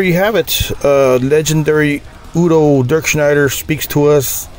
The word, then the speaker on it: Udo: got about a 40 original except lineup in udo's band Udo as is supposed to be pronounced right so anyways uh awesome maybe we